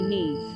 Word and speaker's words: Nudd: that nud and Welsh is pronounced simply need and not otherwise as for the fairy